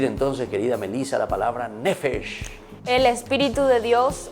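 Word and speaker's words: נפש: Y la palabrita se pronuncia así, y digan todos, nefesh.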